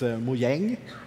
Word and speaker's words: Mojang: does it mean uh it's a Swedish word if you spell it the same way but you have like two dots over the a it's muang which means Gadget or Gizmo